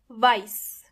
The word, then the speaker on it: weiß: But you have to be careful, because you might think that some words are written with S, but actually they are written with SZ, even though the pronunciation is completely similar. For example, weiß.